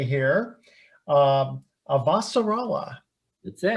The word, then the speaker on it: Avasarala: And I'm going to pronounce this correctly here. Avasarala.